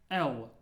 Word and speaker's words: Л: The next letter is L. L. Like in the English, long.